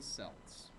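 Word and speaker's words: Celts: Irish say Celtic and Kelts the Americans say Celtics and selts both are technically correct it just depends on whether you want to pronounce it the American way or the Irish way so like Glenn said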